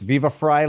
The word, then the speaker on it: Viva Frei: I am so happy today to be joined by Viva Fry. Did I say it correctly? Yep. It's Viva Fry, like half of my last name, Fryheight, which means freedom in German.